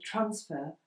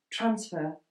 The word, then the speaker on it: transfer: So 'transfer' is a two-syllabled word. When we say 'he was a last-minute transfer', this is the noun. The emphasis on to the first syllable, whereas if I say: 'he had to transfer to another club', here I emphasise the second syllable, because it is a verb.